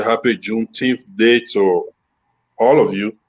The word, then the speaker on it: Juneteenth: How do you say it? It's Juneteenth, yes.